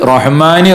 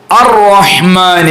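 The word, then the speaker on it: الرحمن: അലിഫ് ലാം ചൊല്ലിയില്ല ബിസ്മില്ലാഹി റഹ്മാനി റഹീം ബിസ്മില്ലാഹി കഴിഞ്ഞിട്ട് റഹ്മാനി റഹീം അതുപോരാ അറഹ്മാനി അപ്പൊ ബിസ്മില്ലാഹി ആ ശദ് വരണം അപ്പോഴാണ് അലിഫ് ലാം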